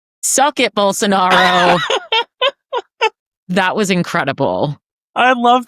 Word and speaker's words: Bolsonaro: So this is former Brazilian president, how do you pronounce his name? Bolsonaro.